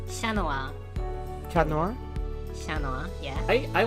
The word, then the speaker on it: Chat Noir: My favorite card out of that set was Chat Noir, actually. Wait, no, that's not how you pronounce it. Let's do it more Frenchy. Chanoa.